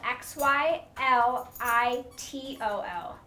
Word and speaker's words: xylitol: dogs and it can kill them and it is spelled x y l i t o l so it's xylitol and you would find that